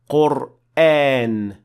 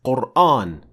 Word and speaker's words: Qur'an: All the 10 confirmed qira'at pronounce this word with an empty mouth alif.